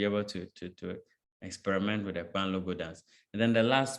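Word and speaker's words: kpanlogo: Yes, so you pronounce the K and the P together with the A.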